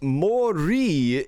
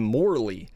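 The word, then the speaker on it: Morley: his op9 box but it's Mori is how you pronounce this in Japanese but in English we call him morle which is different but in Japan they don't really have an L pronunciation I believe so I think that's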